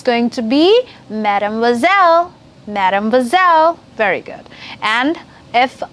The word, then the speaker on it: mademoiselle: And if it's a girl and unmarried girls, then it's going to be mademoiselle.